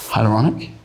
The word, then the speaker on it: hyaluronic: It sounds terrifying, but yeah, it took me about 6 months to learn how to pronounce it. And now that I've got it, I just keep saying it to everyone. Hyaluronic?